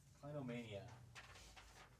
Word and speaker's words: clinomania: with that this is number five guys uh clinomania or clinomania uh that's so it's spelled like this c l i n o m a n i a kleino mania so basically what that is right along the